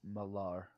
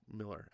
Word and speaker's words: Millar: Pronounced Malar. No, it's Miller actually.